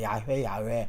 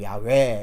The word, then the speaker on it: 야훼: 일단 원어상으로는 야훼라는 말이 아주 더 가깝습니다. 야훼 약하게 야훼 이렇게 되고 이제 우리는 여호와.